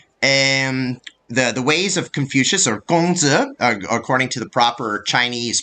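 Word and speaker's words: 孔子: Basically, where Confucianism, or Ru, the ways of Confucius, or Gongzi, according to the proper Chinese pronunciation, was the ideology kind of went up and down.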